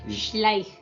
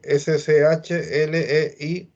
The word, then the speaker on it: Schleich: La CH es como la J. Él es alemán, entonces está explicando cómo se pronuncia su apellido, que en verdad no se escribe así. Y luego viene la SCH, que es Schleich.